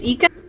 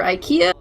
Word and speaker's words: Ika: The way you pronounce my name is Ika. Not Ica or Ikea.